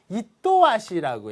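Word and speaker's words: 厭わしい: 요거는 이또와시라고 읽어요. 이또와시. 지긋지겹다라는 거고요.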